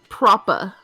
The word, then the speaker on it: proper: Also, Jez says if you want to sound English, pronounce proper propa. Proper. Drop the... Oh, because the hard R's is kind of an American thing, right?